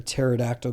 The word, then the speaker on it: pterodactyl: So he said, why can't you hear a pterodactyl go to the bathroom? I mean, I get it. We're trying to be here. It's like, this sounds like shit. What is it? Because the P is silent.